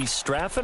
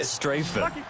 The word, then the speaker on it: Strafen: It was held in mid-December, and your winner, IB Straffen, or is it IB Strafen? You've got the pronunciation guide. IB Strafen. Strafen. My bad, Mr. Strafen.